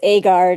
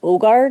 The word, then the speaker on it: Aagard: have is it agard a guard how do you say your last name um in America it's aard in the country originated from it's ogard I think is what it is so okay I would